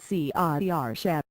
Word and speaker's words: Saoirse: with his lips and pronouncing it See-ah-er-sha.